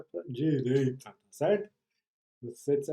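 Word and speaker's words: 右折: E esse kanji se pronuncia apenas u. Viu aqui em cima? U ou u.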